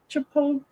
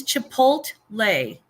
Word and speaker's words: Chipotle: see it chipot here chipot chipot what do you say it's Chipotle chipot Chipotle Chipotle exactly